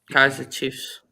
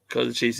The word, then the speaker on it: Kaiser Chiefs: They spell Kaiser with an S. Kaiser Chiefs in England pronounce it with Z, so that's the difference in the name.